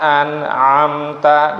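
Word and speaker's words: أَنْعَمْتَ: qnya Qi ya sirathalladzina an'amta di sini an'amta ya jangan an tapi anamta ainnya yang kedua anamta alaihim ghairil maghdubi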